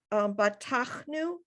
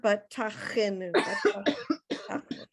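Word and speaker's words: בטחנו: And so that fourth word in there is batachnu. You don't have to pronounce the it. It's not batachenu.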